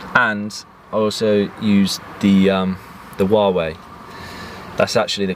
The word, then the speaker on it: Huawei: And I also used the Huawei. That's actually the correct pronunciation of this phone, and I do not miss the iPhone at all.